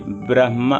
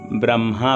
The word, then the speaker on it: ब्रह्म: अब देखिए ब्रह्मा, बहुत लोग ब्रह्मा बोलते हैं तो ब्रह्मा नहीं होता है, क्योंकि पहले ब्र फिर हा फिर म, ब्रह्म। शुद्ध उच्चारण ये है ब्रह्म, ब्रह्मा। पहले ब्र फिर म फिर हा, ये गलत उच्चारण है।